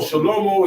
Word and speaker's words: Shlomo: Shlomo is the Hebrew pronunciation for Solomon.